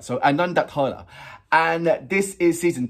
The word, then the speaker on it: Anondodhara: Is it Adondohara? Nah. Let's go to the to our Bible of translation, Google. Anondodhara. There you go. Now, let me know if Google Translate is right. So, Anondodhara.